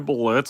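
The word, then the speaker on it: Blitzø: It is I, Blitz, the O is silent, and this is my third live stream.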